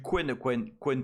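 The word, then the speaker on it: Qwen: Bah, ça se prononce pas comme ça hein. Quen. QWN, non Quen.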